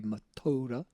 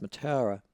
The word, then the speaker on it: Mataura: Now, for those of you who don't know where Mataura is, I'm sure it's probably pronounced, the Maori pronunciation would be Mataura, but their old R should too.